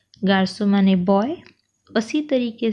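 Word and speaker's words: garçon: देखिए सी के बाद भी हार्ड वोवेल है ओ, तो होना चाहिए था गार को, पर ये प्रोनाउंस करने के लिए बहुत अजीब सा लगता है, तो हमने सिडेला दिया है, सी के नीचे मार्क है, एक्सेंट है, तो प्रोनाउंसिएशन बन जाता है गार्सो।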